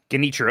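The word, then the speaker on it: Genichiro: Did I Mike, you were you were trying to phonetically spell it out in my chat last night. Is it Ginichiro? Guinichiro. Yeah, there you go. Ginichiro.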